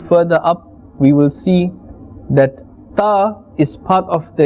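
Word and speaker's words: ث: When we are looking at the letter Tha, this is part of the lithawiyya letters, and this is pronounced from the top of the tongue. Now imagine this, the top of the tongue and the inner edge of the upper teeth. The inner edge of the upper teeth. Tha. So we will not say Sa. Tha. Tha.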